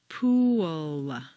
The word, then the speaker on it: pool: unintelligible to your listener for clear comprehension you need to say three syllables pool where did that W come from it's certainly not written down anywhere but it is there just as definitely as the p is there the second example is